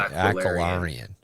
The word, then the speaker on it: Aquarian: the ruling aoran council did I say it right Aquarian it's the yeah I know but it's trying to say it as like an Aryan that's not working Aquarian it's it's Aquarian essentially like water Aquarian think think of it